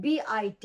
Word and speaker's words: bit: e and the e look at the spelling b-e-a-t is beat and b-i-t is bit so you don't say i'm going to bit the drum but you're going to beat the drum i'm going to beat